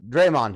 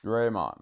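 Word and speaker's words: Dre'Mont: was uh uh uh Draymond Jones Draymond okay because I don't think the t is pronounced it's not Draymond or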